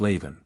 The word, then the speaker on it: Leamhan: of the language and forms Leamhan, pronounced Leven.